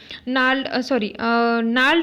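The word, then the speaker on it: gnarled: एन old Aiwa wine नाल्ड and decay. यहाँ पे जो जी का प्रोनाउंसिएशन है वो बहुत साइलेंट है, इसलिए इसका जो प्रोनाउंसिएशन है वो नाल्ड आता है, and decay at the roots.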